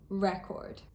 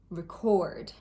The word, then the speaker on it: record: As a general rule, with 2-syllable nouns, the stress is placed on the first syllable. Content, contract, object, record. And with 2-syllable verbs or adjectives, the stress is usually placed on the second syllable.